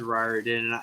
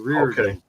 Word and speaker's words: Riordan: No, I was actually saying Riordan, and then he said Riordan, and I corrected you because you were saying Reardon.